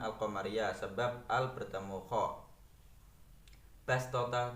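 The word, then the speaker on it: بسطة: Bastota termasuk bacaan gharib. Bacanya boleh dibaca sin, boleh dibaca shad menjadi basta.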